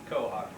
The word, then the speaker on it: quahog: He says New England is for him until he can find another place in the world where the people can pronounce quahog correctly. It's quahog, Mal.